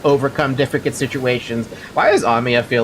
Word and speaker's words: Amiya: Why am I saying that name wrong all of a sudden? No, I'm saying it right. Amiya.